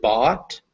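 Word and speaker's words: bought: is that the word bot make sure you're getting an ah sound in there not an o sound bot bot yeah all right so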